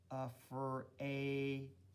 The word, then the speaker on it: afraid: The A says its name, afraid, and the second one is silent.